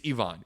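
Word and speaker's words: Iván: Too many times I've seen Ivan said Ivan. It's Ivon.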